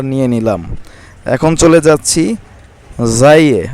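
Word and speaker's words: زاي: নিলাম এখন চলে যাচ্ছি জাইয়ে আমরা অনেকে ঝা বলি তবে মূল নাম হচ্ছে জাই জাই পেশ জু জাই জবর জা যাই জের জি জু জা জি যাই দুই পেশ জুন জাই দুই জের জিন জাই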